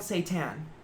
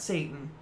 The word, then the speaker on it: seitan: It's called seitan. Seitan, not Satan. Seitan.